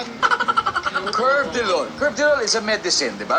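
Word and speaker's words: Carvedilol: Curve Dolve Delol is a medicine ' ba because uh you're a pharmacist. Yes po. Actually it is pronounced as Cvedilol.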